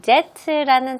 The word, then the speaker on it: debt: 저희가 최근에 이 debt라는 단어의 발음을 배웠잖아요. B는 무음이고요. debt입니다.